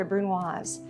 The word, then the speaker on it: brunoise: A really small dice is called a brunoise. Pronounce that S as a Z. It's got an E at the end of the word, a brunoise.